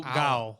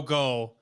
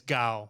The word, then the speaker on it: Gao: It's Joe Gao, isn't it? Gao, not because I said Joe Go on the video, and it's Gao. Gao. Yeah, okay. Like ka-chow.